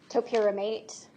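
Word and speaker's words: topiramate: Topramate.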